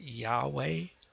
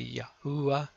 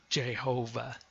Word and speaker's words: Yahweh: a by a and you can pronounce a Yahweh or there's some that say it's maybe Yahoo I'll guarantee you one thing it's not it is not Jehovah that is an abomination